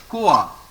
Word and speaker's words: quoi: OI, if there is OI inside a word, we simply pronounce it as OA.